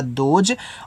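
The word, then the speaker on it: those: तो टी से आपका यहां पे हो जाएगा द। ओ से ओ की मात्रा दो। एस के बाद इ होता है। तो हम इसको जा के रूप में पढ़ते हैं। तो ये आपका हो गया दोज।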